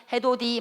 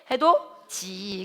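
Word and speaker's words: 해돋이: 자, 그래서 미다지 같이 할 때 미다지 해도디 막 이런 거 얘기할 때 그지? 해도 이렇게 하지 않고 어떻게 해도지?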